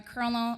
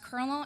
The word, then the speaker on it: colonel: my head around my Colonel it's pronounced Colonel not colonel anyways I thought I